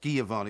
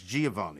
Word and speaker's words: Giovanni: It's not Giovanni, it's Giovanni.